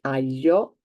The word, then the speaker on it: aglio: to reiterate the fact that GLI is the combination of three letters that make the sound Y, and that's why here you do not hear and do not pronounce the letter I in any way.